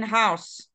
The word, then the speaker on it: house: love my house okay it is important for you to pronounce the s in house okay house because if